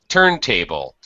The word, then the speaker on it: turntable: So we will pronounce them with a high tone, high pitch stress in the first word and a low pitch or low stress, secondary stress in the second word. So headphones, turntable, cassette deck, like that.